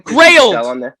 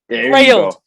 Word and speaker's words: Grailed: I will have the links to her Instagram and her I think it's pronounced grilled or grilled. Oh, is it? Oh, Grail or something? Grailed. Grailed.